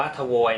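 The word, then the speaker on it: твой: ให้ เป็น นะ ฮะ อัน นี้ อ่าน ว่า ทวย นะ ครับ สระ 2 เอ้ย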